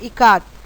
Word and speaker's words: Ikat: Ikat. Janki teacher said it is pronounced I as in Ka and as in Kamala and T as Th in both.